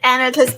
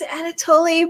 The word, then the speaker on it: Anatole: It's Anatole. It's technically it's Anatoly, but I didn't know how to pronounce that name when I first named her, so she knows Anatole. But there are two. There's I love that. There's 2 correct pronunciations, so she's right. She's just not the Greek pronunciation.